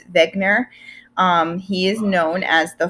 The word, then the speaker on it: Wegener: page 1 about Alfred I say Wagner but you know me I never pronounced anything correct so it's Beckner he is known as